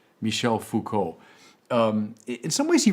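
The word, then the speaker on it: Foucault: the final of these four players namely Michelle Fuko this final player is perhaps the least known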